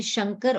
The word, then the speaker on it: Shankar: So they have, it is a, yeah, it is possible that, like even in South, some people say S-A-N-K, like my Jijaji is called S-A-N-K-R-A, not S-H-A-N-K-R.